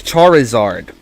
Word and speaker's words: Charizard: Don't forget about the I between the R and the Z. It's Charizard, not just Charizard.